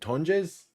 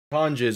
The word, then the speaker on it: Tonges: Is Jack Jack, how do they just pronounce it? Tonges. Tonges. On the reception. That's tonges.